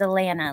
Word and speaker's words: Atlanta: It's Atlanta, like banana.